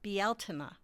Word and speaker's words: Bealtaine: According to Irish witchcraft, it's pronounced Bealtaine.